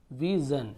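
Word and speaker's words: vision: को ये होता है विजन विजन यानी दृष्टि तो देखिए थोड़ा सा जन जन उच्चारण वहां पर होता है यदि लास्ट में एस आई ओ एन हो अब यहां पर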